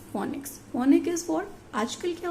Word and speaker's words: phonics: फोनोबेटिक्स somewhere you find फोनोबेटिक्स and somewhere you find it फोनिक्स, बट the correct pronunciation is फोनिक्स.